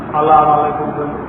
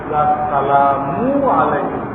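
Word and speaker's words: السلام عليكم: সালাম দিলেন আসসালামু আলাইকুম এই সালা সালামু আলাইকুম ঠিক করে দিতে হবে আসসালামু আলাইকুম ভুল হলে ঠিক করে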